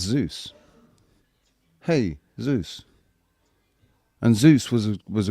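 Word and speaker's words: Jesús: I mean just why would why would Jesus we pronounce it Jesus, right? But Spanish people pronounce it Jesus and then but but then it's Zeus. Hey Zeus.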